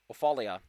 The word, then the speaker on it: Ophelia: uh bella sunbane and ophelia offalia which is spelled like awful is the one who